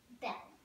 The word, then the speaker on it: belle: a me Belle beautiful in fren you say it like this Belle bour hello and friends